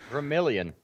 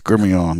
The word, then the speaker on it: Gremillion: It's Louisiana style.